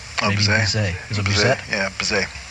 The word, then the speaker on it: Bizet: how to pronounce this composer's name, but it's spelled like Bizet. Oh, Bizet.